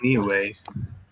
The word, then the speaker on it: Niue: Oh, anyone have interest in the modern, I believe it's pronounced Niue. Nui. Niue, but a lot of people say Niue. Niue? It's Niue.